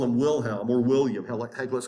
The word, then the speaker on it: Wilhelm: Now, we showed you Kaiser Wilhelm, and yes, in German, W is pronounced with a V, so we can just call him Wilhelm or William.